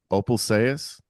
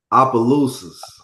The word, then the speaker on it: Opelousas: I'm doubting my pronunciation here, so I might need your help. Opal Sayas? Opelousas.